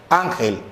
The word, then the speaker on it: ángel: Ángel. Entonces mi sílaba tónica, am.